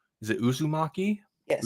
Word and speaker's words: Uzumaki: It'll be we'll be talking about, I'm so iffy on the pronunciation. Is it Uzumaki? Yes. Uzumaki, which is the Junji Ito classic horror manga.